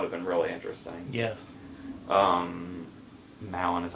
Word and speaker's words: Malin: Malin is how you say her name, but I can't.